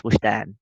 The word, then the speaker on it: Woojdan: The J is like pronounced like sh, so it's Woojdan, like my full name.